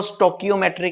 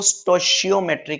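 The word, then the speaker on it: stoichiometry: स्टोशियोमेट्री, कोई इसको स्टोकियोमेट्री कहता है, कोई स्टोशियोमेट्री कहता है, कोई टोशियोमेट्री कहता है, अलग अलग प्रोनाउंसिएशन है बच्चों। मैं तो इसको स्टोशियोमेट्री कहता हूं, मैं इसको स्टोशियोमेट्री कहता हूं, तो आप भी स्टोशियोमेट्री ही कह सकते हैं।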